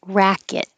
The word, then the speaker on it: racket: Hi, we just finished meeting for pronunciation practice on Tuesday, January 10th, and we started with racket. Ra. So make sure your lips are back for the ah vowel.